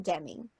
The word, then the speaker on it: Demme: Lambs is not Jonathan Demme. That is not how you pronounce his name.